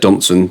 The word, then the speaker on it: Johnsen: Johnsen plays, I'm sure it's said Johnson, but it's spelled slightly differently.